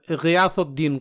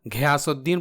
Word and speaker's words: غیاث الدین: غوری کو گھوری اور غیاث الدین کو گھیاس الدین پڑھتے ہیں، جو کہ انتہائی غلط تلفظ ہے کیونکہ عربی میں